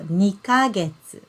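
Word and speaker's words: 二ヶ月: So 2ヶ月.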